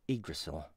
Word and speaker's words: Yggdrasil: Yggdrasil. It had been released 12 years earlier. You know what? I've said this word so many times, but I think I have just Yggdrasil. Yeah, that's the way it's pronounced.